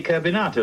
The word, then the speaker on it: Carbonato: pronounce this general's name that gentleman's name is simply carbonato like potato you mean kbon like